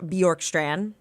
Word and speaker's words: Bjorkstrand: The Tampa Bay Lightning, they acquire forward Oliver Bjorkstrand. I'm pronouncing it correctly, right?